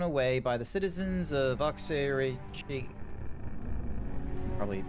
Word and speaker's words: Oxyrhynchus: papers carelessly thrown away by the citizens of Oxyrhynchus. Probably pronouncing that absolutely terribly. Hang on a second. Dink. LX. Sorry, you want to say that again? Oxyrhynchus? Oxyrhynchus.